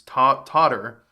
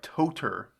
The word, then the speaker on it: tartar: I may be pronouncing tartar wrong, which is a bit more embarrassing. It's totter, but I'm saying more like toter.